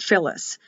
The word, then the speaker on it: Phyllis: F or PH, interchangeable like the word Phyllis. It's written PH but sounds like an F.